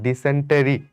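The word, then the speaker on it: dysentery: ডিসেন্ট্রি বলি মুখে, কিন্তু বানানটা দেখো ডিসেন্টেরি, বাট এটার উচ্চারণ আসলে ডিসেন্ট্রি।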